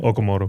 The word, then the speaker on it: Okamoto: Okamoto.